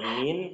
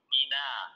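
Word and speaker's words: من: ala yang ketiga huruf Mina min min min bukan Mina Min yang keempat Ila sahih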